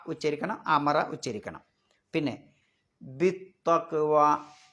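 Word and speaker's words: بالتقوى: ഉച്ചരിക്കണം അമറ ഉച്ചരിക്കണം പിന്നെ ബിതക്വ അവിടെ ബി കഴിഞ്ഞിട്ട് അലിഫിന് ഉച്ചാരണമില്ല ലാമിന് ഉച്ചാരണമില്ല ബി ബി നീട്ടാനുള്ള ഇങ്ങനെ ഒരു അലിഫ് ഉണ്ടാവും അല്ലേ പിന്നെ ഒരു ലാം ഉണ്ടാകും അതൊന്നുമില്ല നേരെ ചാട പിന്നെ ഈ തായിലേക്ക് ബിതവ ബിതവ പിന്നെ അവിടെയും നേരത്തെ പറഞ്ഞപോലെതന്നെ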